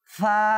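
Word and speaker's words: ف: এরপরে আইন আইন এরপর গাইন গাইন, এরপর দেখেন ফা ফা। আচ্ছা, এটা উচ্চারণ কিভাবে করব? উপরের দাঁতের আগা, নিচের ঠোঁটের বীজাংশ এভাবে ফা ফা।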